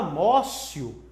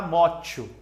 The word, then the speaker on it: motio: Fala mócio, mas escreve motio. É porque no latim o T pronuncia como C. Então você vai escrever motio. Mas você nunca vai falar motio.